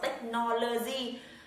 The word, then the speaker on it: technology: Một từ này không đọc là technology. Với cái âm cuối cùng nó đang đọc là G mà nó là J.